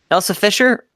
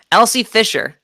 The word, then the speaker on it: Elsie Fisher: keep I can I not say her name Elsa Fisher that's not the wrong left the wrong one Elsie Elsie Fisher I'm just gonna double over this part this